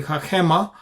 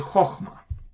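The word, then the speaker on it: חכמה: If it is a big one, then a chachema. Then if it is a small one, then chokhmah.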